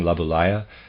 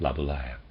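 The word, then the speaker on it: Laboulaye: Stewart Mill readers aside I'm pronouncing labala probably incorrectly it's a French word I'm supposing and it's spelled l a b o u l a ye and I'm pronouncing that laaya end of reader aside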